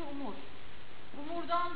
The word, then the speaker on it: umurumda: bir şey var aslında umursamak umurumda umurumda u çok fazla u'ya boğulan bir yer var o yüzden umurumda değil yani sanki u yokmuş gibi bu u'ya çok az basarsanız zaten umurumda gibi olur Çünkü bazı harfler vardır